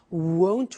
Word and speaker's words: won't: sunny is the negative won't remember the difference between will not won't and want won't want so be careful with that pronunciation so it'll be sunny